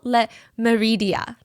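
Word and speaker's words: Le Méridien: Gail Hotel, it's called Hotel Le Meridia. I'm trying to pronounce it in the French way.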